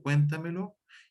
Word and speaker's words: cuéntamelo: que me cuente algo, porque se acentúa en la sílaba anterior a la antepenúltima, tildándose también en todo momento, y digo, cuéntamelo, y aquí yo tengo, por ejemplo, la sílaba lo, me, ta y cuen, y ahí es donde, en cuen, es donde va el acento.